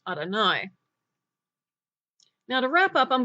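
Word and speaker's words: אדני: a you good like any other name it's pronounced Adonai now to wrap up I'm going to show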